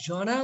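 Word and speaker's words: genre: জনার তো আমরা জানি ধরন, বা উচ্চারণটা কিভাবে করেছি খেয়াল করো তো, উচ্চারণটা করে জনা, জনা, খেয়াল করো জনা, এখানে টোটালি রটা অনুচ্চারিত জনা। ঠিক আছে, অনেকে জ্যানার বলে, ভুল বলে আর কি।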